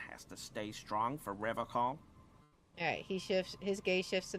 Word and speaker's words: Revachol: pronounces Revocol with a hard K, unlike other people. Right, that caught my attention too. You said Revocol. I like to pronounce it the hard way.